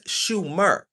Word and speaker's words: Sumer: Notice that Sumeria has Moor and pronounced in in the proper language as Shumer.